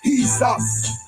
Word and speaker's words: Jesus: But they can't see us, cause there were no J's in Hebrew. Jesus is pronounced as he's us.